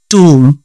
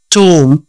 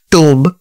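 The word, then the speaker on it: tomb: ಓಂ ನಾಟ್ ಓಂ ಟಿಓಎಂಬಿ ಟೂಮ್ ಟೂಮ್ ನಾಟ್ ಟೂಬ್ ಎಲ್ ಐಎಂಬಿ ಲಿಮ್ ಲಿಮ್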